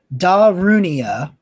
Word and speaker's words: Darunia: So it is pronounced Darunia.